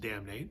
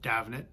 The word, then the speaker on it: Damhnait: of my favorite singer-songwriters, Damhnait Doyle. I know it looks like her name should be pronounced Damhnait, but I guess it's an Irish name, Damhnait.